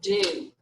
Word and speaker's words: do: that o sound like it sounds like it should be two o's there d-o-o all right but remember